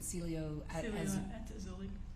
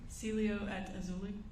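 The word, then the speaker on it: Cielo Azul: the Celia how do you say it again Celio auli say it one more time Celio at auli okay was that the name of the apartment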